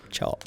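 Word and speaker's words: Chope: Chop. You might not say it like it's ch H O P E.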